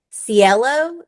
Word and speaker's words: Cielo: was last week, and Cilio, is that how you pronounce her name? The pretty blonde-headed girl with the accent from Ohio? Oh, Is Cielo? it Cielo? Is that how you say it? Yes.